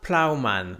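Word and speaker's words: Ploughman's: feuilles ensuite on voit plman donc ça s'écrit P l o u g h M a n apostrophe s donc plans donc c'est la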